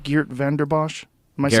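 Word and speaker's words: Vanden Bossche: Geert Vanderbosch? Am I Geert saying it correct? Vandenbosch.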